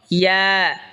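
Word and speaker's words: ي: এরপর হলো ইয়া, ইয়া হলকের মধ্যখান তার বরাবর উপরে তালের সঙ্গে লাগাইয়া উচ্চারণ হবে ইয়া।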